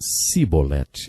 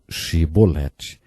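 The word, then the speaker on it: שבולת: regiões do nosso país eles não conseguiam pronunciar o som CH e por isso vizinho a cebolete ao invés de ge boletim GT de golo 42 mil homens porque eles não conseguiram dizer shiboleth algumas pessoas aplicando essa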